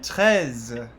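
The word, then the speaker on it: treize: kind of start similarly so trunt means 30. um and then tes is 13. so it's they're about half the same word so it's something tough to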